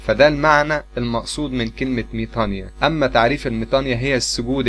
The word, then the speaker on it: ميطانيا: وفي بعض الأحيان بتتكتب ميطانويا هي راجعة على النطق الخطأ لحرف الأوميكرون إبسلون، لأن الأوميكرون إبسلون في اللغة اليونانية وفي اللغة القبطية بيتنطق إي، فأنا بنطق ميطانيا ده معناه.